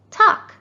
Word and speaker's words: talk: and talk and walk did you guess that it's the silent l good job these two